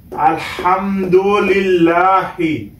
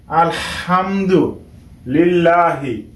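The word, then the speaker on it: الحمد لله: লা হা জের হি আলহামদু লিল্লাহি এখানে হা উচ্চারণ করতে হবে গলার মাঝখান থেকে আলহামদু লিল্লাহি র বা জবর রব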